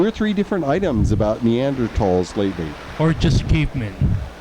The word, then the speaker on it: Neanderthal: not Falls huh uh I think the correct pronunciation is Neanderthal but because there's an H right after it that is silent I don't know they've